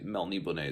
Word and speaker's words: Melniboné: Elrich of Melbourne is I think that's Mel Neibonet is how you say it.